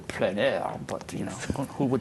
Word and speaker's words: plein air: So it's plein air. If you pronounce it in French, it's probably plein air, but you know, who would pronounce it in French?